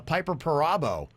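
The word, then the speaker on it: Piper Perabo: the people that were in it like uh piper parabo she was in that that's how you pronounce her name and she looks uh great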